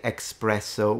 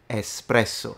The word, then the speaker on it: espresso: on the fact that people mispronounce this Italian word and turn it into an X they say espresso whereas it's just espresso and even though that's